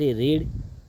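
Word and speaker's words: read: form verb third form रीड रीड आई एनजी रीडिंगला रीड third form को रेड spelling समान अ किंतु उच्चारण अलग-अलका रेड असिला ता पर बाय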